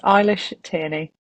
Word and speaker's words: Eilish Tierney: It is Eilish Tierney.